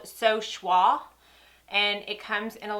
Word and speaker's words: Choix: It is French.